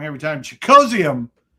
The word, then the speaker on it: Okonkwo: Chig Okonkwo. Okonkwo Okonkwo Okonkwo Travis Hunter, Jaguars.